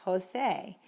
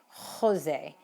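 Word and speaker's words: José: especially during the pandemic jose in spain is pronounced with a very very almost in the back of your throat sound so you might hear that among spaniards but generally speaking it's jalapeno jose juan etc okay if there's anything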